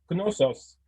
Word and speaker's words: Knossos: Par exemple, les noms comme Knossos, en alphabet syllabaire, on aurait écrit Konoso. On ne veut pas écrire Knosso, on écrit Konoso, mais ça se prononce Knossos.